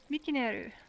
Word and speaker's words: Mikinel: Mikinel. Or the VRChat name in English is M-I-K-I-N-E-L. Yeah, it's almost the exact same. It's just the N-E-L is Neru.